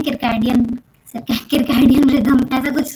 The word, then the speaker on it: circadian: है जिसको अपन बोलते हैं, आई गेस उसका प्रोनाउंसिएशन है किरकैडियन, किरकैडियन रिदम, ऐसा कुछ प्रोनाउंसिएशन है, CIRCADIAN रिदम, ठीक है।